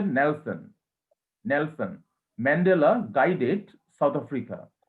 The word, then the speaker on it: Nelson: নেলসন, উচ্চারণটা হচ্ছে নেলসন।